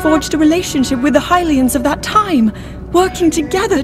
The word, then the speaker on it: Hylian: Yes, I got the look like Hylians. Pronunciation correct.